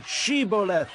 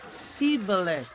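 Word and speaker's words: Shibboleth: he replied no they said all right say sheoth if he said Sith because he could not pronounce the word correctly They seized him and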